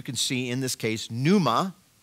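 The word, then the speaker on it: πνεῦμα: see in this case, pneuma, P-N, like pneumonia, pneuma, and then at the end you can see that T-I, pneumati.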